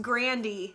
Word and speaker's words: Grande: I actually heard it's pronounced Grandy. Tell me if I'm wrong.